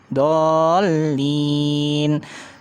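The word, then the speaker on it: الضالين: Terus kemudian yang terakhir dolin. Pakai nun, bukan pakai mim, tapi rata-rata bacanya pakai mim kan? Dolim.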